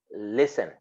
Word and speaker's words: listen: listen it is written listen but it is pronounced listen got it then look at words like uh